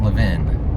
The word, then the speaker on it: Levin: and the fact that my name sounds like love in so double triple entendre